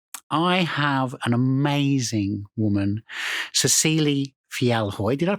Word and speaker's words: Cecile Fjellhøy: And in the studio with me today, I have an amazing woman, Cecile Felhoy. Did I pronounce that correct?